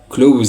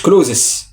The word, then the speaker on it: clothes: خلي بالك clothes هنا الاي اس تنطق زد، clothes اسمها كلوز يا جماعه، مش كلوزس، مش كلوزس، اسمها كلوز.